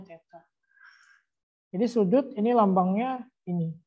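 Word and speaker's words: theta: kalau sudut disimbolkan dengan lambang Teteh Teteh nanti bacanya Teta jadi sudut ini lambangnya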